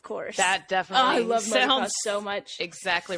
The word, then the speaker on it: motocross: I think it's just countrifying motor. It's because motive. Because each race is called a moto. Motocross. So it's motocross.